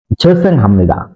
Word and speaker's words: 죄송합니다: দ্বিতীয় উদাহরণটি হলো ঝেসেং হামনিদা। এখানে ঝিউতের সাথে যুক্ত হয়েছে ও যোগ ই। এখানে অনেকেই উচ্চারণ করে থাকেন ঝো ই।